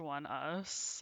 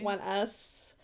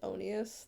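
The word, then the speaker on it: ONEUS: It's pronounced One Us, apparently. One Us. I was always pronouncing their band name as Onius.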